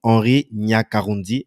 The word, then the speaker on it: Henri Nyakarundi: Donc, Henri Nyakarundi, est-ce que j'ai bien prononcé ton nom? Oui, oui, oui, c'est correct, c'est correct.